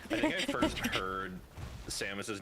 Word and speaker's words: Samus: always thought it was Samus. Same. It is. But how do you pronounce her last name?